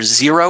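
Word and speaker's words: Xero: options with black pearl either zero which of course is spelled x-e-r-o or QuickBooks Online those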